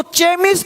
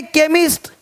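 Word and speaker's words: chemist: पता हो साउंड आपको केमिस्ट अब इसको चेम नहीं पढ़ेंगे चेम चोपड़ा को कोपड़ नहीं पढ़ेंगे इसको चेम नहीं पढ़ेंगे केमिस्ट अब देखो चोलर नहीं पढ़ेंगे चोले इसको पढ़ेंगे कलरा कलरा हो गया देख रहे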